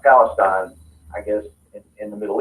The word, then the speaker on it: Palestine: Anderson county is Palestine um you know it's pronounced Palestine I guess in the Middle East but here